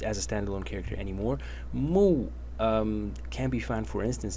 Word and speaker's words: 木: And the bottom element is pronounced mu.